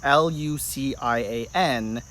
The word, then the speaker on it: Lucien: on the name Luke and the version I spell it is Luc ia n which is the Latin variation if you are